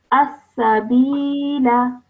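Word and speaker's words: السبيلا: So when we're reading it, we do not pronounce it, but when we're pausing, we do pronounce it. Okay, so when we're reading, it's going to sound as as-sabila.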